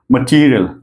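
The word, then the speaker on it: material: बता रहा है कि इसको स्ट्रस करना है मटेरियल ओके य ये हम लोग एरोल में यूज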